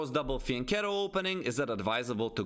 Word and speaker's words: fianchetto: but i know that everyone else is saying fianchetto especially in british or american english right that's the way to pronounce it is it advisable to go for